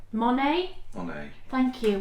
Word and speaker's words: Monet: Hedgehog fibers in the Monae. Monet. Monet. Thank you. Why did I say Monae? Because what you're doing is you're pronouncing it like how people would do in America.